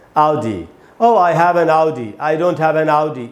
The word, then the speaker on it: Audi: Oh, I have an Audi. I don't have an Audi. इस प्रकार से बोलना चाहिए। He has bought an Audi. He hasn't bought an Audi. Audi बोलेंगे दोस्तों, ऑडी बोलना एकदम ही गलत है।